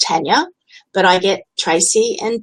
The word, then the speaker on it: Tania: and Stephen last night Tina even though she asked me to say my name still wanted to say it the way that she thought it should be said but my name is Tania but I get Tracy